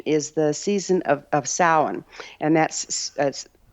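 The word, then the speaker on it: Samhain: the Celtic tradition is the season of of sin and that's pronounced sa but it's spelled Sam Hayne so people misund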